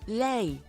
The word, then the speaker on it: lei: Lei mangia. Excuse me? Le mangia. To eat, right? Mangia is eating. Mangia. Yeah. Le mangia. Le mangia? Le? Lei. Shh. Lei.